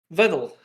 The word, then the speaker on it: Vedal: My name is Vedal. Rhymes with pedal and metal.